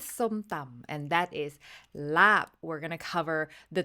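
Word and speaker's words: ลาบ: dish is Laab, not Larb. Yes. The R, just It's ignore not there. the R. Pretend you're British for a second and say it as if a British person would say it. Laab, without Why- rolling the R.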